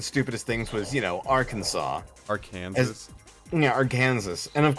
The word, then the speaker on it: Arkansas: And since the letter S at the end of French words is usually silent, we pronounce Bill Clinton's home state Arkansas.